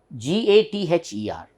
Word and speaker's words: gather: where we say gather generally we all Indians we love to pronounce every letter and that doesn't most often it removes the music musical beauty of the pronunciations we all say gather but we should not pronounce R we need not pronounce